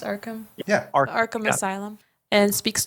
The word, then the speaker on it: Arkham: Seeking hard proof, Arthur goes to Arkham, is it pronounced Arkham?